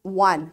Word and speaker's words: one: It spells as one, O-N-E. But its pronunciation is different. So we have read, this is the way how we learn about sight words, remember? So this is a sight word because it's different from the way we pronounce, it's different from its spelling, right?